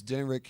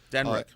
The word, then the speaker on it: Denrick: His first name is spelled D like David, ENRYC. In fact, he's in the studio with me tonight. Yes. He's my administrative assistant. Denrick.